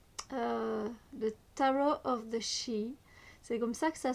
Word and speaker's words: Sidhe: le Tarot of the Shi. C'est comme ça que ça se prononce. Je sais que c'est pas comme ça qu'on a envie de le lire, mais c'est comme ça que ça se dit, que ça se prononce.